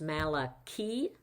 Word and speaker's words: Malachi: should have used soda so um actually it's pronounced Malaki and Malaki means messenger we don't really know